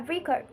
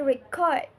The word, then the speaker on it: record: When used as a noun, we say she want to buy a record with the stress on the first syllable. But when it's a verb, we say she wants to record record her speech with the stress on the second syllable.